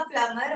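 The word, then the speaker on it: plumber: और भी बहुत सारे वर्ड हैं, ठीक है, प्लम्बर का प्लम्बर हो गया है, हाँ, बी तो ऐसे साइलेंट है, ठीक है, बहुत सारे ऐसे वर्ड्स हैं।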